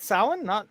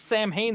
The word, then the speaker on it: Samhain: Yeah, it's the people that pronounce it as Sam Hain that drive me up the wall.